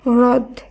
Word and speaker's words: হ্রদ: তাই হয়রফলা দ এর উচ্চারণ যদি আর এইচ দ এইভাবে যদি করা হয় তখন এর উচ্চারণ হয় হ্রদ।